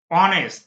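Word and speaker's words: honest: স এ ওয়ান eyed man হি is dash অনেস্ট আবার ও এর মত উচ্চারণ হলে এইচ যদি ও এর উচ্চারণ হয়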